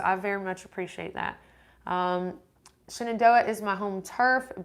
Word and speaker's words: Shenandoah: Shannon do it because I hear a lot of HT hikers saying Shannon Doha and I'm like it's Shenandoah but I'm but I'm wondering if like I'm like if locals say Shannon Doha and I'm the one that's saying not properly but it's spelled synodos